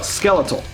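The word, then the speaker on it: Skelethal: actually corrected this on the review show it's pronounced skeletal it's pronounced skeletal uh they just they do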